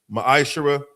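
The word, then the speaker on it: מעשר: It means 10th in the Hebrew is pronounced ma'ashara.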